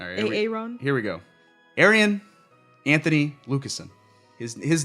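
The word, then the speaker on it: Arjen: Arian Anthony Lucasen.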